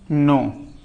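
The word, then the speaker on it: knee: हमने लिखा के एन डबल ई नी। इसे हम नी पढ़ेंगे ना कि इसे हम क्नी पढ़े। ये गलत है। ऐसे नहीं पढ़ा जाएगा। ये नी पढ़ा जाएगा।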